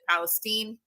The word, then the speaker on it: Palestine: happened in um I keep wanting to say East Palestine Ohio even though it is spelled Palestine um they pronounce it Palestine uh and the derailment that is and the